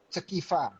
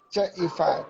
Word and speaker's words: Cekifa: Saya bacanya Cekifa. Salah ya? Ceifa. Ceifa. Cek Iva.